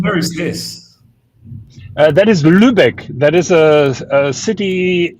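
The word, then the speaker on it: Lübeck: to yeah Jonathan where is this that is Lubec that is a a city in the north of Germany how do I spell that l u b e c k yes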